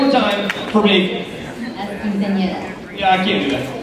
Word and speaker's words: Quinceañera: La Quinceañera. Is that right? Did I say it right? Yeah, you say it for me. I'm a PE teacher and coach. La Quinceañera.